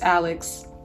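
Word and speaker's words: Alix: bear with me cos the lady name is Alex but she tried to reinvent herself and change her damn name that's another story it's spelled al IX everyone calls her a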